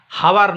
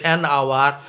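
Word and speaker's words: hour: ঠিক আছে, আর অনুচ্চারিত এইচ দিয়ে দেখো অ্যান আওয়ার, হাওয়ার নয় কিন্তু অ্যান আওয়ার, হনারেবল নয় অনারেবল, অ্যান ওটেল।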